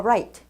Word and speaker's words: right: 자, 발음 주의하시기 바라겠습니다. right 할 때요. on the light 하게 되면 light, 불빛 위라는 표현이 되기 때문에 정확한 표현 아니에요. 그래서 발음하실 때 이 R 발음 같은 경우는 R 사운드를 만들어내실 때 두 가지의 모음, O하고 A 발음이 납니다.